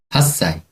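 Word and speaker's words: 8歳: 그 다음에 8살도 좀 발음이 좀 바뀌죠? 어떻게 될까요? 8 歳 그쵸.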